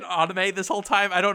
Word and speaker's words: anime: Have I said anime this whole time? I don't know why I've been saying it like that. I tend to say anime because that is the Japanese Japanese pronunciation.